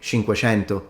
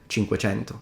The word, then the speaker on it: cinquecento: have this and so I do say shinkwashanto rather than cinquecento when I'm using my own native pronunciation but now I'd